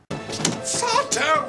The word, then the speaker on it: Sardo: on the that's S no Mister Accent on the dough sardo sardo oh this is